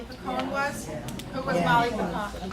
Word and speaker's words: Picon: Who was Molly Picone? Molly Picone, I'm saying it right? Pecan, okay, good, better way.